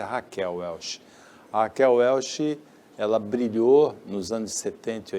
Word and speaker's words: Raquel Welch: conhecida como Raquel né a pronúncia do nome dela em português é Raquel welchi ela brilhou nos anos